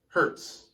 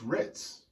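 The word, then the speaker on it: Hriz: This comes from Dennis Hertz, like says my name is pronounced like Ritz crackers, so it's H-R-I-Z. Oh, Dennis Ritz, but it has an H in front of it, so it's not Hertz, it's Ritz.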